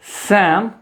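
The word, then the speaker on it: salmon: It sometimes L gets silent. अब एल कहां कहां साइलेंट होता है आपको ये याद रखना है, ये आपको मालूम होगा। सो it's becomes calf, half, haves, could, should, would, सैम and talk.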